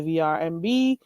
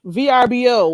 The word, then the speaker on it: VRBO: And you could also try the VRMB. I hope I said it right this time. I think I did. VRBO.